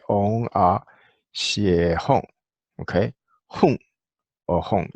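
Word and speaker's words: HRI: How do you pronounce H-R-I, right, or but it's a single syllable. So most of the time, in Asia, whether Chinese or Tibetans, they kind of all pronounce this like a she.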